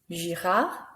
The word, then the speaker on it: Girard: Notice again, that's right, the last letter isn't pronounced. Simon, Leblanc, Girard.